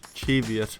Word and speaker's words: Cheviot: Last video, we set a challenge to hike the Cheviot. Yes, Cheviot is how you actually pronounce it.